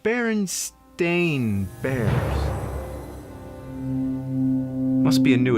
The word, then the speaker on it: Berenstain: Actually, the most likely pronunciation would be Berenstain, since it was spelled the same way like Frankenstein. But everybody I ever met says Berenstain.